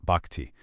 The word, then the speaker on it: bhakti: This is the core of bhakti, pronounced bhakti.